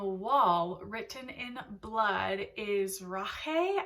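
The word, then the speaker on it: Rache: Written in Blood is Rahe I think that's how you pronounce it because I think this it's coming from the German pronunciation in here which means Revenge so very intriguing already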